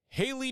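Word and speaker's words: Hailie: And our next auto, Haley Deegan, or Hallie Deegan. I've heard it pronounced both ways, spelled this way, so we'll cover our bases with both.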